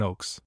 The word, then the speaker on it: Oaks: We remark that the German name Oaks is pronounced as the English name ox and means the same beast.